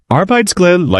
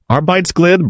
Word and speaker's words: arbejdsglæde: Arbejdsglæde, like a Danish word pronounced a-r-b-e-i-d-s-g-l-a-e-d-e, means work joy.